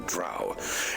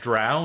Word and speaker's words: Drow: I believe they are connected and part of a greater puzzle involving the Drow. Keep them safe, and I will research the matter further. Now, it's pronounced Drow, not Dro.